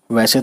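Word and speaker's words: وہ: पेश वो पढ़ते हैं, और हे का आवाज़ जो है यहाँ पे हे का जो साउंड है ये साइलेंट है, बस हम सिंपली वो कहेंगे वो, ठीक।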